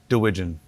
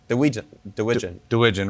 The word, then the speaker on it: DeWeegen: How do you say your last name? DeWeegen. DeWeegen. Rhymes with pigeon.